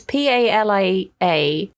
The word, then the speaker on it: Palia: out at some point called Palia or Palia. It's Palia.